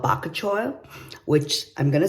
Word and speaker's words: bakuchiol: it's got these ingredients that I can't even pronounce one is called bakachoil which I'm gonna spell it you can help